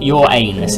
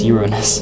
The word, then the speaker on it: Uranus: And I am saying it correctly, it's not your anus, it's Uranus. But anyways, where is it?